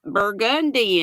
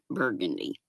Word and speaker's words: Burgundy: Burgundy. I like to say it like they say it in Nolens. One of the street signs says it looks like burgundy, but they pronounce it burgundy.